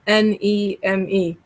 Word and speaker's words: Mneme: Well, it's called Neme, so you don't pronounce the M. So it's Mneme, Neme, Mm-hmm.